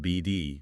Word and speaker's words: Bd: Yeah, most people just call it build, pronounced BD, or sometimes Kittridge.